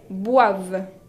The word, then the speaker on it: boivent: Ils ou elles boivent. Boivent con la ENT, la terminaison qui ne se prononce pas.